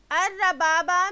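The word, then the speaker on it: الربابة: بمعنی بلند ہونے والا۔ الربابہ بفتح الراء والباء الموحدہ مکررہ وہی الصحابہ، الربابہ را پر زبر با مکرر بمعنی بادل۔ تو امام نووی رحمہ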